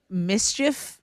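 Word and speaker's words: MSCHF: you know um it's from the brand called Mischief well pronounce mischief and they're the same company that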